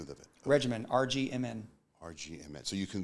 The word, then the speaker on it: RGMN: Regimen, RGMN.